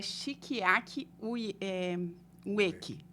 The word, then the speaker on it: Shigeaki Ueki: O senhor, então, ele estava me dizendo que o nome dele é Shikiaki Ueki, né? Não é, as pessoas acabam confundindo, porque o japonês tem algumas pronúncias diferentes.